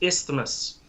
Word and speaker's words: isthmus: And honestly, pronouncing the word isthmus, I've never heard that word. It's just a really annoying and hard to say word. It's isthmus.